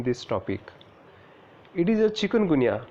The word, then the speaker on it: chikungunya: It is a chikungunya, not chikungunya. To be pronounced as a chick or gunya.